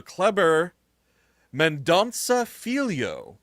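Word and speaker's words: Kleber Mendonça: Uh so Clever Mandansa is how you say his name.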